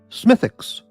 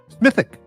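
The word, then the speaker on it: Smithwick's: Spring Smithwicks is pronounced Smithix. Okay. Thank you for that. I didn't know that. Justin Forge, our Canadian beer uh authority, says Smithwick. Smithic is the accepted pronunciation. Okay, Smithic.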